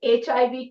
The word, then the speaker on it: HIV: He took blank HIV test. What? बेटे फिर से देखो, उसकी pronunciation देखो.